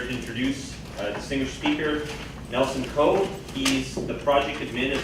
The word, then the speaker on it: Nelson Ko: I'm here to introduce a distinguished speaker, Nelson Coe.